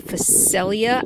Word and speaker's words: phacelia: the purple ones are patches of phacelia I think Facel yeah I think is how you pronounce it and I'm not seeing